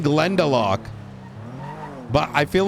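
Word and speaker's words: Glendalough: that I always have at home, it's called Glendelock. That's spelled G L E uh N D A L O U G H.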